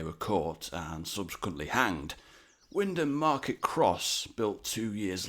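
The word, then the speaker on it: Wymondham: Just like in the Herafordshire episode of this series, we start off with a trick pronunciation. In this case, from the town of Windom. Yes, the first M and the O may be silent, but the town's architecture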